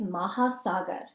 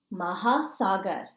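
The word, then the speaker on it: महासागर: words for ocean mountain and grass ocean is maha sagar say it with me please maha sagar one more time maha sagar is ocean mountain is bahar bahar is mountain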